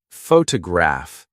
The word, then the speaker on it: photograph: For example, photograph noun is stressed on the first syllable, but photograph I see adjective is stressed on the third.